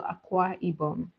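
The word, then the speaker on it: Akwa Ibom: It's spelled aqua. A k w a. Then ibomb is spelled i b o m. So aqua ibomb, not aqua like butter.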